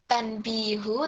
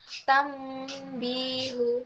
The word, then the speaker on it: tanbihul: kira-kira membacanya kambing Uh jadi Bukan Tanti tanbihul tapi tambihul jadi sini memang tidak ada